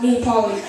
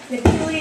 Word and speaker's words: Nihipali: I don't see what's so hard about my last name. I mean, I have so many ways that people have pronounced it. Napoli, Nepali, Napoleon.